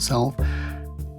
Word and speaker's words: salve: Ed proclaimed black Sal I'll pronounce it Sal as a quote safe